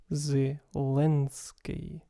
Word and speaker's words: Zelensky: front of an e the correct pronunciation would have a dark l z lensky thank you for watching